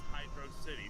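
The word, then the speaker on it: Hydrocity: city in Sonic Mania they spell it as hydrosity but refer to it whenever spoken about as Hydro City so they're keeping this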